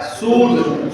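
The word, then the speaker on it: should: इसमें भी एस एच ओ यू एल डी क्या होता है, सूट, सूट भी जो है वह एल के बाद डी है तो इसका मतलब एल साइलेंट होगा।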